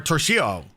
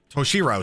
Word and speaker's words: Toshiro: It used to just be Trunda or Toshio, Toshiro, sorry, saying his name wrong, you know, and now